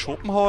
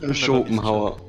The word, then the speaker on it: Schopenhauer: Spricht man denn eigentlich Schopenhauer oder Schopenhauer aus? Schopenhauer. Okay. Mit einem langgezogenen O.